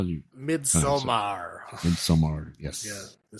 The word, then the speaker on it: Midsommar: Midsommar. Midsommar. Yes. Yeah. Say it like you're Swedish.